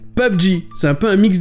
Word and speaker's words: PUBG: Je sais pas comment vous le prononcez, mais en anglais, ça se prononce comme ça, PUBG.